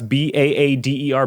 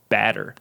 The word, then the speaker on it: Baader: Would you pronounce Baader, Baader, or Bader? I mean, I would pronounce it Bader. I'm not confident to say that that's right.